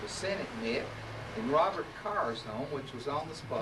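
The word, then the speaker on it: Kerr: How many of you have ever noticed the marker that says Robert Carr, spelled K-E-R-R? Good for you. You know the Scottish pronunciation is Carr.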